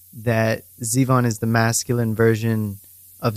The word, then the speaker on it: Zivon: Zeon is it am I pronouncing your first name correctly how do you say it perfectly Zeon okay got it all right is it Russian